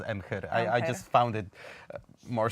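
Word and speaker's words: Emhyr: made it uh that in polish we pronounced it as m her i just found it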